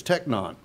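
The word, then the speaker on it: τέκνον: this is a different word now I can pronounce this one in the Greek it's techno okay techno in the Greek and it's used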